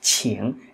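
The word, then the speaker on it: 请: đọc của từ khác các bạn thấy từ này sẽ đọc là Chiêng à đọc là Chiêng đúng không nào và nó thêm bộ Ngôn vào nữa thể hiện lời nói tiếng nói và đọc là chỉn chỉn có nghĩa là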